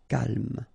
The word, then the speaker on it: calme: So don't insist on the final E. Calme.